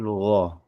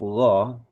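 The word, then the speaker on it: غين: Nah, kemudian untuk huruf gho, huruf ghain. Gain ee seperti huruf ain tapi ada satu titik di atas itu huruf gho itu gin itu di situ dibacanya mungkin juga cenderung ringan juga gho gho ya gho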